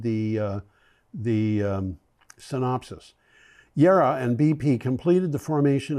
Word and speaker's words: JERA: So Yera, I should pronounce it because I believe that's a German name and the J would be pronounced like a an I. Um, Yera and BP are operating